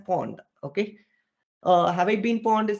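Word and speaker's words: pwned: us guys okay so this is pronounced as Pond okay uh Hawaii pinpond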